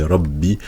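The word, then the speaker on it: رَبِّ: Bi rabbi, c'est comme si on avait finalement deux ba. Un premier ba avec une soukoun, donc on va le prononcer ba, et le deuxième ba avec une kasra.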